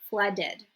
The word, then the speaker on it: flooded: If the verb ends in a T or D, you pronounce this as ed. For example, we have the verb to knit. So when we make it past tense, we will say knitted. Okay, knitted. You see I'm pronouncing the ed.